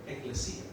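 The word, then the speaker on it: ekklesia: the word ecles Ecclesi going to pronounce it's a Greek word eclesia it means assembly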